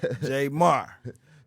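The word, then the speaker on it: Jaymar: Not like Jay-Z, J Marr.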